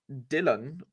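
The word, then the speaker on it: Dilane: pick um in a player called Dylan but it's spelled D l a n e French version I assume delay Baka who moved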